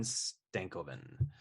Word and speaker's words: Stankoven: got him at number 5, and that's Logan Stankoven.